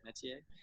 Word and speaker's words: Métier: So explain to our listeners a little bit about, is it Métier? Is that how you say it? Métier? Yeah, and right now I